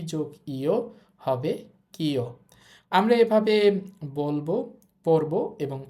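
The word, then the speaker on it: キョ: কি এর সাথে দিব ইও, এটা হবে কিও। কি যোগ ইয়া, কিয়া। কি যোগ ইউ, কিউ। কি যোগ ইও হবে কিও।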